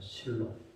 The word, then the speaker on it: 신록: 전에는 모르고 썼는데 그 니을의 영향을 받아서 실록, 그래서 니은 발음을 리을 발음으로 하더라고요. 실록.